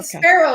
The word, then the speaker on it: Sparrow: c start with f sparrow the bird is spelled like that the same yes and i'll say sparrow like the bird they still though oh